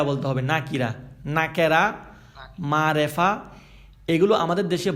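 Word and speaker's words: نكرة: শব্দটা হয়ে যায় অনির্দিষ্ট অনির্দিষ্টকে আরবিতে বলা হয় নাকিরা আপনার না আমাদের সাথে সাথে উচ্চারণ গুলো ঠিক করতে হবে নাকিরা বলতে হবে নাকিরা নাকেরা মারেফা এগুলো আমাদের দেশে বহুল প্রচলিত কিন্তু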